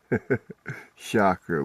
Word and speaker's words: chakra: Shakra would be the right way to say it.